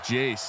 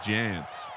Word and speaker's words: Jace: Tom Nell 417 pointing out it's Jace, not Jance.